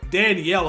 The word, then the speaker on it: Danielle: see danil Hunter or Danielle Hunter I don't know why I said Danelle his name is Danielle it spelled like Danielle Daniel Hunter be one